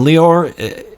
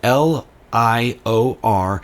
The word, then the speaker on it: Lior: my special guest is lior vachnan and leor it's spelled l-i-o-r it's pronounced just like Christian Dior the brand so it's lior bachnan